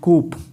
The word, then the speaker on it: coup: ऐसा कुछ नहीं है, इसका प्रोनाउंसिएशन हम लोग क्या करेंगे? कू. ठीक है, हम लोग इसको कूप नहीं, कू पढ़ेंगे.